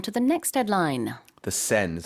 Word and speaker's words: Seine: The Seine is how I pronounce it, right? The Yes. Seine, okay.